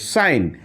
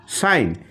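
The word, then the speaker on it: sign: উচ্চারণটা কিন্তু হয়ে গেছে সাইন অর্থাৎ এইখানে কিন্তু জি টা সাইলেন্ট হয়ে গেছে ঠিক পরের ওয়ার্ডে যাই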